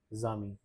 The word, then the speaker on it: amis: So we will connect these two letters and the pronunciation because of the liaison will be zami.